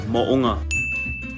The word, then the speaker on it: Mo'unga: The proper way to say it is Mo'unga.